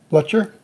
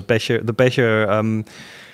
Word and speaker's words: Becher: Sometimes I do that, but I mean, going into the previous kind of question is like someone like Ernst and Hilda Blecher. Becher. The pronunciation is really important here.